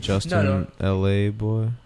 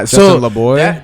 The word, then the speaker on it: Justin LaBoy: Was it Justin LA Boy? Why is that how you say his name? No, that's not. Justin LaBoy? That's Justin LaBoy.